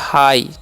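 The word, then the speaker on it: high: इस कान करना ह आई आई तो हो गया हाई ठीक है यानी कि यहां पर जीएस साइलेंट होता है ठीक है तो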